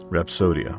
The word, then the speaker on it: Rapsodya: can you tell me how how do you pronounce that word is it rodia rapsodia rapsodia yeah okay yeah it really comes from the